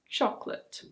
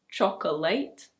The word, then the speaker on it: chocolate: In British English this one is: chocolate. It's not "cho-co-late". It's: chocolate.